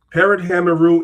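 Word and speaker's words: per-em-heru: Per hammeru is the book of coming forth by day. That's how you say it in the ancient Egyptian language.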